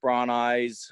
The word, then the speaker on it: Brauneis: goodness that's always fun Brown eyes I usually go by brown eyes because nobody ever gets my name right so perfect and it's fine it can be pronounced anyway it's just a name